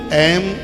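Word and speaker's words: ऐं: बहुत लोग एंग बोलते हैं जो एकदम अशुद्ध है।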